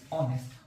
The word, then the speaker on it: honest: এখন তাহলে হচ্ছে প্রশ্ন, ভাইয়া তাহলে HONEST, অনেস্ট, অনেস্টের সামনে কি বসবে? বলেন তো দেখি, অনেস্টের সামনে কি বসবে? সামনে এখানে এইচ কনসোনেন্ট হইলো, এর উচ্চারণ হচ্ছে কিন্তু ভাওয়ালের মতো, অনেস্ট।